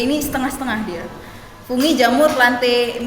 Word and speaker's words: Plantae: Fungi, jamur, plante, bacanya plante ya, bukan plantai. Malu nih kalau ustazah kalian keluar plantae misalnya. Bukan, plante.